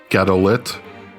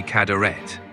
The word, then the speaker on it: Cadorette: contest to watch wait did you just say Jerry galit I apologize for the mispronunciation I meant Jerry cadaret thanks for pointing that